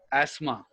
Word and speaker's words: asthma: is a respiratory disorder there are two possible pronunciation in english one is asthma asthma so where one you can say it this one or you can say this one asthma asthma or asthma as my asthma yes all right this